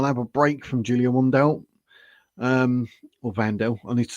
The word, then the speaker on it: Wandelt: Have a break from Julia Wandelt. Or Wandelt. I need to start pronouncing that correctly myself, don't I? People will start calling me out. It's pronounced Vandal, as in you're a vandal.